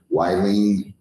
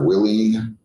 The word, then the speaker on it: Willene: So if I forgot to ask you your name or mispronounced your name by calling you wine instead of Willene and Nolita is Nolita.